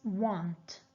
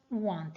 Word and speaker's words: won't: is written like this want want it has the same pronunciation as the verb want okay but of course